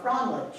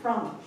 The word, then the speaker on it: Frandolig: And we call it, I mean, you know, in San Antonio, it's like, I was Frandolig, but honestly, down here, I'm a Frandolig, okay? So basically, that's how they pronounce it, Frandolig.